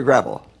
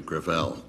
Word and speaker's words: Gravel: chairman I'm sorry thank you okay thank you senator gravel with all due respect let me correct I pronounce ed within my family Gravelle it's a French name thank you huh I